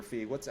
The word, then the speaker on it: Feig: It'll be Paul Feig or Feig. How do you pronounce it? It's Feig.